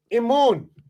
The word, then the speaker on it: Imun: There's the MNM, Imun. And this flaxen reed that we see there represents the I in English. The double flaxen reed represents the Y. Now, IMNM, Imun. There's no A there.